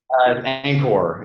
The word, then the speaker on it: Anchore: Zack Hill at Anor do we say the E do we not say the E anchor is the pronunciation okay so from Anor